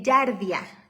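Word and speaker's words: Giardia: el en el estudio detección de yaria yaria eh se escribe con g de gato g r diaia yarda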